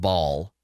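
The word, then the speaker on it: Bhaal: It's just pronounced Baal.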